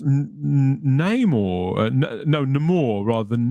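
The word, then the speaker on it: Namor: ass Tech now and he's his name is pronounced name or no no more rather than Neymar I still don't know what they're doing yeah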